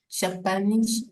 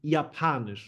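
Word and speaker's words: Japanisch: Japan toky Z preed japanish and Dutch ZN English English pay attention to the J it's Yan on yanish not Japan japanish okay German pronunciation is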